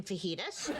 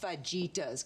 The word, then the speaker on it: fajitas: In that case, they're chicken fajitas. I know you two are in the middle of a thing, but it's pronounced fajitas.